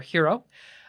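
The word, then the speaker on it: Heroux: sorry he pronounced that it's pronounced mayor hero h-he are yellow us oh you X yeah yes so mayor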